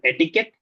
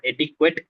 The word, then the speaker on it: etiquette: And also etiquette, as she mentioned it as etiquette. It's not etiquette, it's etiquette. Right?